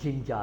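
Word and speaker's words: ginger: Spelling में ये जिंजर है, लेकिन वर्ड की अदायगी के अंदर ये जिंजा है, ठीक है।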